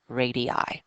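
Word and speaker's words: radii: out to the edge and the plural is pronounced radi so turn uh in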